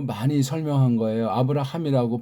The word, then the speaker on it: 아브라함: 아브라함이라고 발음하셔야 돼요.